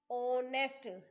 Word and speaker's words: honest: ऑनेस्ट sound जो आएगी वो ओ की साउंड आएगी ऑनेस्ट में भी और आवर में भी, बिकॉज राइटिंग में एच आएगा बट बोलने में एच साइलेंट होगा, that's why we will feel an.